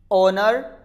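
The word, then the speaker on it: owner: Examples आप यहां देख सकते हैं, एयर, ओनर, आवर, इन तीनों में एच है वो बिगनिंग में आया और यहां पर साइलेंट होता है।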